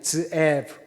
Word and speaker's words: 스에브: 그리고 한글 성경에는 스에브라고 되어 있는데 히브리 발음은 드에브입니다. 드에브.